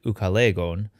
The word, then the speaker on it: Ucalegon: looks like in greek it's pronounced in greek more like ukalegon the proper latin pronunciation